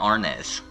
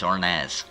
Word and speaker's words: Arnaz: It's not Arnaz. It's Arnaz.